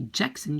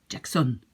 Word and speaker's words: Jackson: And you will see that in the pronunciation in French, you very often put the accent towards the end. So you will not say Jackson, you will say Jackson. Right? This is just a pronunciation thing.